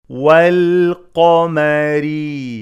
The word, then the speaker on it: والقمر: والقمري والقمري قاف is heavy ميم and را are light والقمري pronounce the lam